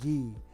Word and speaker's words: Gee: of Ohio State University his name was Gordon gee and he pronounced it with a hard G instead of the soft G okay so Dylan gee